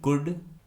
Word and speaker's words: could: York, WOULD वुड, COULD कुड, SHOULD शुड। इस प्रकार के और भी सभी शब्दों में L कम्प्लीटली साइलेंट होगा और इसका हम कोई उच्चारण नहीं करेंगे।